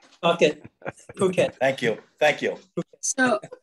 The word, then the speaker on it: Phuket: it it phuket thank you thank you so so jamie what